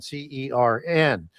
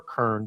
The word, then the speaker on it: Cern: a god named Cern, C-E-R-N, and can be pronounced Cern or Kern, depending on which transliteration you're coming down with through history.